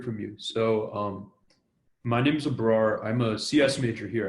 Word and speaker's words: Abrar: I think Abrar, if I pronounce that right, Raman has another question.